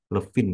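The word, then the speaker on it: Levene: Levin ya bacanya.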